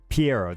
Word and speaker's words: Pierro: and you're right Capitano is number one Pi Pierro that's how you say it okay yeah he's